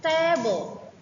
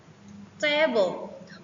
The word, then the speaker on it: table: In nouns and adjective, the stress usually falls on the first syllable. For example, table, table.